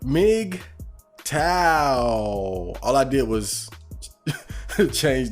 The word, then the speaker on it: MGTOW: as you can see today's episode is called mig tao all i did was change the way that it's spelled but yeah it's big tile so i